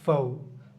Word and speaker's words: faux: সো এই French ওয়ার্ডগুলো যখন ইংলিশে ইউজ হয় তখন আমরা ওই এক্সটাকে সাইলেন্ট রাখি, যেমন FAUX, ফৌ। দেন হচ্ছে কি বোর্ডো, সিউক্সের মানে সিউক্সের মতো উচ্চারণ, এটা হচ্ছে কি সু, SIOUX, সু।